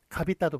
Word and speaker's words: 값있다: 그래서 뭐 갑있다도 마찬가지죠. 갑있다. 있다가 실질 형태소이기 때문에 그래서 값있다가 아니라 갑있다가 되는 겁니다.